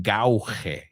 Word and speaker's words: gauge: Or to gauge, que se escribe gauge. It's a weird word, porque se pronuncia gauge.